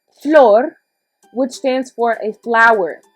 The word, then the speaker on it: flor: we've got floor and if you want to think of it as floor like an actual floor that would actually help in pronunciation flor which stands for a